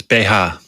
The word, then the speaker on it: BH: How do you pronounce it? It's Beha. Oh, right. Okay. Beha, and it stands for Bustenhalter, breast holder.